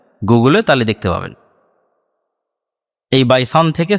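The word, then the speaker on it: Baysan: Hebrew এবং আরবি উচ্চারণের পার্থক্যের কারণে তারা উচ্চারণ করে বাইত শিয়ান, যেটা আরবিতে এসেছে বাইসান, সেটাই হিব্রুতে বাইত শিয়ান।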